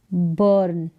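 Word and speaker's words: burn: यू आर को अर या फिर अ करके प्रोनाउंस किया जाता है जैसे कि यह है बर्न क्या है बर्न बी का साउंड ब एन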